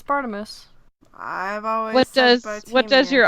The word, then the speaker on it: Barnabas: Taylor is it yeah I always thought it was Bardem us yeah yes it's Barnabas what does what does your audiobook 4n say party is really dirty Crouch jr.